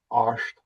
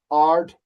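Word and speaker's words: Àird: And you can pronounce it Ard if you're from Lewis, or Arsht if you're from anywhere else.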